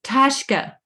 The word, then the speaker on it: пташка: How do you say Пташка. Пташка. bird? Tashka.